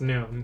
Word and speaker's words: GNOME: least part of it the g is silent it's known yeah i know i